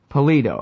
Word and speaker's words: Pallitto: Robert very well and how do you say your last name I'm sorry pollito pollito okay yeah I wasn't sure if the two T's meant that I had to shorten the eye or exactly how that goes but